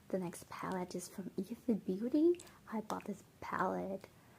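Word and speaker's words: Aether: changed the name a little bit it still pronounced Isa but then the spelling is a t HR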